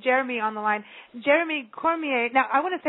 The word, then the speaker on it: Cormier: i gotta bring jeremy on the line jeremy cormier now i want to say cormier because we've just chatted with an adley cormier from louisiana so it's cormier or cormier jeremy actually it's cormier okay cormier okay so i was just bringing the french